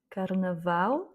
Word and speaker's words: carnaval: Et en tout cas, dès que vous voyez un mot avec la lettre L à la fin, c'est sûr que l'accent tonique se fait sur la dernière voyelle.